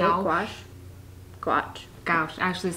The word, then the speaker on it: gouache: Gouache.